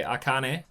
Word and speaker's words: Akane: supported by the drums or by Akane I think is the way to pronounce her name.